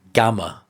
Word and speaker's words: Gamrot: He's 'gaming' the system if you like It's funny, because his actual nickname is supposed to be "Gammer" as that's how you pronounce it in Polish his surname and it comes from that, not like a 'gamer' guy holding a PlayStation controller.